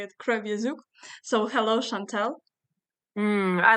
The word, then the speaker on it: Kreviazuk: singer songwriter Shantel kazuk if we pronounce it in Ukrainian but I heard that a lot of people usually pronounce your surname like crra asak but here I'll say it krauk so hello Chantel I